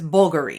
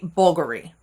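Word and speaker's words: Bvlgari: it's Omni well this cuz it looks like a V and it it is spelled with a V but it's actually pronounced like a u and it's bulgary you know like bulgar we bulgary so very simple you just got to remember that V is supposed to be like a u so bulgary next one this so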